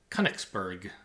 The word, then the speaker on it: Königsberg: I looked up the pronunciation after the question. I think it's Königsberg, I think.